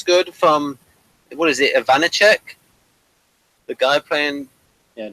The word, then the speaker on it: Ivanek: I thought the acting was good from, what is it, Ivanicek? The guy playing... Yeah, Joko Ivanek, I believe is how you pronounce it.